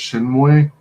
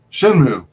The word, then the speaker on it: Shenmue: had that game uh is it pronounced shin way i'm not sure about that one oh okay um it was either dreamcast or the other not so popular one that died um but it was like uh you were this character in japan or whatever and it got so many rave reviews oh shit are you talking about shin moon shin moon all right i guess i pronounced it wrong oops yeah shenmue they